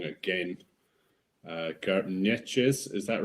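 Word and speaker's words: Geert Nentjes: I'm going to get this pronunciation wrong again. Gertnetjes, is that right? Definitely not. No, Gertnetjes, you've done well there.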